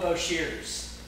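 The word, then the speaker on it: Boshers: by a guy named beau beaucheers yes that's how you say it even though it's still washers bo beaucheers the b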